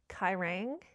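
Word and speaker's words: Quiraing: I think it's Quairang. It's a place in Scotland.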